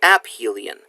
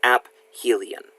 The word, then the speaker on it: aphelion: the Sun this is App Hylian I realize it looks like aphelion it is not you actually pronounce the P it is AB Hylian is the point farthest